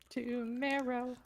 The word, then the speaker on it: Tomero: two credits for this i believe it's pronounced it's a camaro to marrow that thing got a